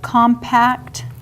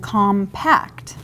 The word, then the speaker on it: compact: And usually, you would put the emphasis on the syllables differently, like compact and compact.